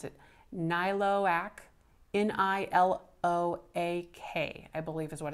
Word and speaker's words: Niloak: So the maker of this is, best as I can pronounce it, Niloak, N-I-L-O-A-K, I believe is what it says.